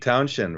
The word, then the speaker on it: Townshend: You don't when you say Shend, you don't add an H. It's just you pronounce it like Townshend, Hmm.